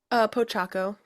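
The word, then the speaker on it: Pochacco: Kirsten, how do you pronounce this one, number 4? Pochaco.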